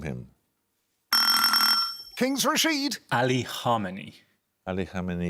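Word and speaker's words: Khamenei: him Kings rashed Ali Harmony Ali that's right your pronouncing it right I'm not since 1981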